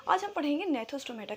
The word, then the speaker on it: Gnathostomata: also called gnathostomaटा, but G is silent here. The right pronunciation is gnathostomaटा।